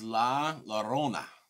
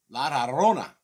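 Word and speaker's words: La Llorona: you Ian this is La Lona Laona you got to roll the freaking tongue jabroni if you want to pronounce it correctly all right I got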